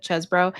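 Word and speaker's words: Chesebro: I was like, it always looks like cheese to me, but Chesbro, and several so-called false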